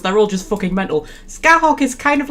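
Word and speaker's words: Scáthach: Who I slightly based on a Celtic warrior who I think her name is pronounced Skahok or something like that.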